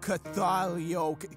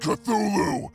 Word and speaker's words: Cthulhu: japan well well well if it isn't all cathalio whatever your name is the king of the underworld or whatever the heck lovecraftian thing you are it's pronounced cthulhu have you come to challenge me for my